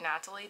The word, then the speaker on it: Natalie: That's actually what Natalie does. And she pronounces her name with a hard T, that's why I'm saying it like that.